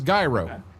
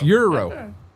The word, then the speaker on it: gyro: To me, that says gyro, but it's Euro.